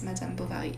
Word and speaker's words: Madame Bovary: I don't know how you pronounce that in English, but in French it's Madame Bovary.